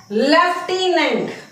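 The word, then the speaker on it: lieutenant: You lent तो लटिनेंट की spelling actual में इसका प्रोनंसिएशन क्या है लेफ्टिनेंट लेफ्टिनेंट मिलिट्री में होते है।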